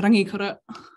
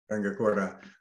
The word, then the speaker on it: Rangikura: That line I was looking for before, it comes from the new book, Rangikura, is that how you say it? Yeah, Rangikura. Rangikura, where you say you developed an early kind of kinship slash with all the ways the earth hurt.